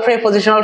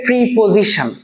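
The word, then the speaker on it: preposition: যেমন স্যার আমি তো প্রেপোজিশনাল ফ্রেজ সম্পর্কে আমার ধারণা নাই, আমি ছোট মানুষ, গরিব মানুষ, আমার তো এই প্রেপোজিশনাল ফ্রেজ সম্পর্কে ধারণা নাই, আমরা বলি এটাকে প্রিপোজিশন, আসলে এটা হচ্ছে প্রেপোজিশন।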